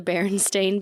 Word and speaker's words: Berenstain: Another big one for me is the Berenstain Bears.